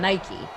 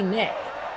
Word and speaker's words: Nike: We were writing her script for her, and she was doing a segment on Nike, and she pronounced Nike Nick.